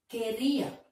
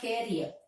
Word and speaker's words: career: That is, in the words ending with E-E-R, E-E, the last syllable is stressed. Career. Career. This word is not new to us. We have already learned. Career. It's not carrier.